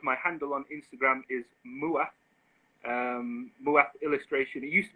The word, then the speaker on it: Moath: the name of my handle on instagram is muah um illustration it used to be maps but